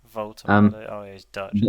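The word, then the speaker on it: Woltemade: Voltemade. Yeah. It's a V, not a W. Voltemade.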